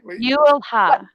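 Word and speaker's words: Jylhä: You don't say the J. How do you say it? Well, it's Jylha.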